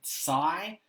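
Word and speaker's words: Tsai: the Nets owner Joe sigh I think the T is silent in that he was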